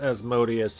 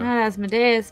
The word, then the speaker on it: Asmodeus: this time but uh asmodeus but maybe find out well i'm sure personally no what's that both pronunciations are fine i've heard it's like about or a boot yes canadians say asmodeus i'm fairly certain that